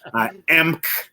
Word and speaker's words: Emch: Emch. They add vowels and words like they think they're going to correct how it's said. So it's just pronounced Emch, E-M-C-H.